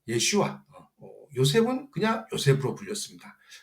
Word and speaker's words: 예슈아: 어 히브리식으로 발음 발음하면 예슈아.